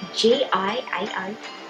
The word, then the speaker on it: Giao: My name is spelled G-I-A-O but pronounced as Giao.